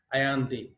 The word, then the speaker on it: Allende: These are some extracts from the last speech of Salvador Allende, pronounced Allende.